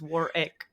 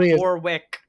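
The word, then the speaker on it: Warrick: be like that no he's wari like not Warwick I tend to pronounce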